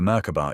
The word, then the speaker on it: Merkaba: Merkaba, three syllables, three aspects of one structure. M the light fields rotating in opposing directions. Car the spirit body encoded with intention. bar the physical vessel that holds it all in time.